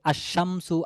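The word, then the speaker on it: الشمس: তারপরে দেখেন নিচেটা দেখেন আলিফ লামেশামসিয়া। শামসিয়া বা সূর্য বর্ণ এগুলোর লাম উচ্চারণে আসবে না।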